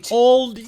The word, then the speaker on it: Aldi: He pronounced it right. Aldi.